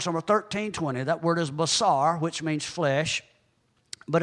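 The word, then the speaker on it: בשר: 13:20 that word is basar which means flesh but it's also related to 1319 that word is pronounced the same way basar and that is the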